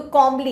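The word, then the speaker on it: comely: कमली भी हमारा positive word है. तो कॉमली, इट्स नॉट कमली, कमली नाम हो जाएगा कोई हमारा जो आया था बॉलीवुड में. This is कॉमली.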